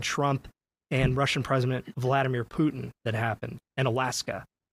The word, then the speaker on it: Putin: Um, it's you can see in the pages that uh it's supposed to be pronounced P O T I H N. Putin.